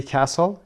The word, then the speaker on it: castle: به عنوان مثال for example کایسری کاسل، کاسل قلعه هست، تیش هم تلفظ نمیشه، دقت داشته باشید.